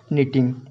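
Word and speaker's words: knitting: Waving and second है निटिंग। Okay, यहाँ पे के जो है साइलेंट है इसलिए इसका पढ़ेंगे, निटिंग पढ़ेंगे।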